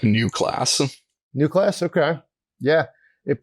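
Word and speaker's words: Neue Klasse: German I think it I think it's roughly pronounced like new class new class okay yeah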